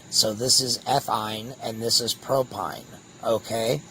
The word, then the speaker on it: ethyne: So they always will end with yne, which is pronounced ine. So this is ethyne, and this is propyne.